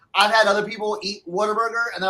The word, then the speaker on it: Whataburger: For all the non-Southerners, it might sound like some people are saying Waterburger, like Water, Waterburger. And that's how they say it down in Texas. But it's just because people have, it's supposed to be what a burger. Whataburger.